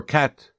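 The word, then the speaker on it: quatre: Zero zero one two d three four cat.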